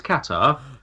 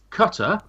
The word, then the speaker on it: Qatar: Well, you just delete whichever version of the pronunciation, but it's Qatar. But for our American friends, Cutter, that's C-U-T-E-R.